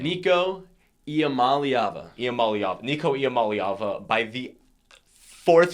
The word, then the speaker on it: Iamaleava: You can pronounce the last name. Nico Iamaleava.